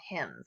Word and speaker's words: hymn: read and make sure in him not like him as in like I give this to him but him like the songs we sing in church are called hymns and there's about hym